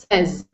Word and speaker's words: says: short e sound. So instead of saying says, it's e says says.